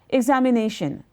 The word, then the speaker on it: examination: Suppose I say examination, examination, there are 5 syllables, and it is nay that will carry the emphasis.